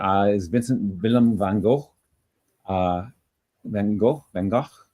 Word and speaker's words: van Gogh: Van Gogh. How would you pronounce his last name? Van Gogh. Van Gogh. Yeah. Van Gogh. Oh, right, with the G, right?